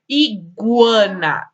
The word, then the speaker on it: iguana: ele não é pronunciar e a iguana iguana é pronunciado ou não é é isso ele é pronunciado ó o que o é pronunciado iguana guaraná guaraná linguiça